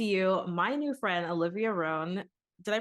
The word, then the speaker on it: Roan: to bring to you my new friend Olivia ran did I pronounce that correctly ran yes you did okay great yeah I was